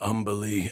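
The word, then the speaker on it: Umberlee: do you know of umbily Astorian oh Lords rhymes with undersea for one thing fitting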